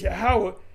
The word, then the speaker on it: Yahawashi: He said you you got to say it like this, Yahawashi, and he said that's the son of the Most High.